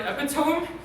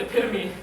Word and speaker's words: epitome: I'm going to say that when you use the word epitome, I died a little bit inside because it's pronounced epitome.